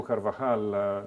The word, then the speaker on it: Carvajal: Carvajal, is that how you pronounce his name? Carvajal, yes.